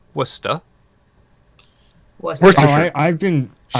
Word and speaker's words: Worcestershire: Worcestershire, Worcestershire. Go Worcestershire! How does he know how to say that name so clearly? He doesn't! or Chestershire, I don't know. Worcestershire.